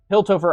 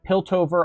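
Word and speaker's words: Piltover: Hilttover Archive. Yes, correct. That's actually probably how you say it. Yeah. Yep. Pilttover archive. Thank you for helping me sound it out.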